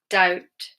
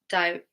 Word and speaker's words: doubt: And then with the T rule, so if it's BT, then the B is silent. We have debt, doubt, subtle. Okay, debt, doubt, subtle. Not doubt or debt or subtle.